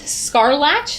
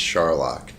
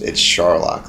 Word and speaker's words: Scharlach: But my last name, it's Scharlach, like Sherlock Holmes. And it's an awesome last name from Mom and Dad that are watching. Thank you. So, Scharlach, did I say it right?